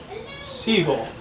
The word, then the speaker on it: Siegel: It's Clark Siegel. Seagull. Like the bird. Not spelled like the bird, but yeah.